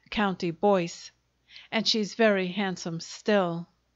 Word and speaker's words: Comtebois: For she was a Fitzstardon, a daughter of the ducal house of Comtebois, pronounced County Boyce, and she's very handsome still.